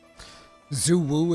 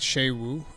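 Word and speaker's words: Suja: Zoo Woo is pronounced Sha Woo. Yeah, in the in the cut scenes that's how they pronounce it. Sha Woo.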